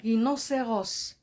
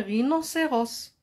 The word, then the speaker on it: rhinocéros: aussi H comme un rhinocéros. Un rhinocéros, c'est un animal sauvage. Regardez ici, il y a le H muet, la lettre muette.